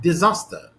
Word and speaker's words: disaster: syllable like word like disaster disaster disaster disaster uh you can hear that desire desire desire this disaster disaster disaster this is the second syllable here is more prominent